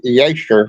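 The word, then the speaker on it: Jasher: But you know it's called the book of Jer. J A S H E R but it's actually Yer because that's the way they pronounce their J is wise.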